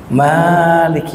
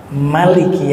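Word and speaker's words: مَالِكِ: Maliki yaumiddin itu kalau di Indonesia biasanya mimnya panjang. Maliki yaumiddin. Tetapi ada juga yang membacanya pendek. Maliki yaumiddin.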